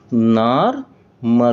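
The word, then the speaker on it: Narmer: तो इसको लिखते हैं एन नार एन ए आर लिखेंगे। नार और यह क्या है? जो साइन है यह एक चीजल है एक छनी है। इसको लिखते हैं एम आर से लिखते हैं। तो दोनों को मिलाकर क्या हो जाएगा? नॉर्मर हो जाएगा।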